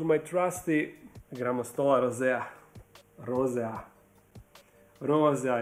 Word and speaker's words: rosea: trusty Granda Rosa Rosa Rosa is actually how you should say I mean pronounce it you won't disappoint